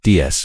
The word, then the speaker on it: DS: In French, DS is pronounced DS, which means goddess.